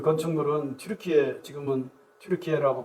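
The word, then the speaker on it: Türkiye: 얘기를 거기서 처음 들었습니다 그 건축물은 루키에 지금은 트루키 아고 발음하는 어 그곳에 어느 곳에 있다는데요 건축물이 만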